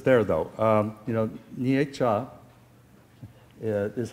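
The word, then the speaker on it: Nietzsche: though um you know nietzscha is how the California would say this or most Americans like that uh but the the uh the polls no you know know that's a two-syllable word nietzscha okay um you know even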